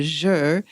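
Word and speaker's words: zhi: water one and that's called the jour which is spelled odd z-h-i and so that one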